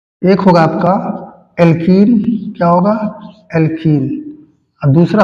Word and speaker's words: alkene: एक होगा आपका एल्कीन, क्या होगा, एल्कीन, और दूसरा होगा एल्काइन।